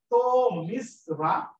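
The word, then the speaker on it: তমিস্রা: তমিশ্রা, এটা উচ্চারণ হচ্ছে তমিশ্রা, যেটা শেষে তারা প্রকাশিত হয়। আমরা এখানে যে নিয়মটা দেখবো সেটা হচ্ছে, এখানে দেখো লেখা লেখা হয়েছে ত, কিন্তু উচ্চারণ হবে তো।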